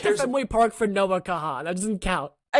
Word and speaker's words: Kahan: It's spelled Kahan, but it's pronounced Khan.